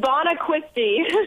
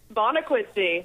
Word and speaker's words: Bonacquisti: your last name Bon it's bon quisty bonna quisty bon quisty okay it's spelled kind of weird so we want to make sure we get it right wow welcome to the